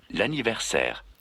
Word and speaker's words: l'anniversaire: L'anniversaire. L'anniversaire. Again, l'anniversaire. Very good. So l'anniversaire is 4 syllables.